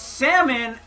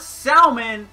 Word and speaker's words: salmon: lady hasn't been yet they say that it's salmon not selman until one teacher decides